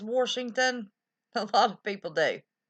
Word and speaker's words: Washington: And I do not say Washington. That's a very common pronunciation of Washington here. I say Washington. W-A-S-H. Wash. Not W-O-R-S-H.